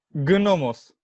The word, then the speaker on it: gnomos: Gnomos. No, gnomos, no se pronuncia así. No, Germán, es gnomos. Gnomos, la G es muda.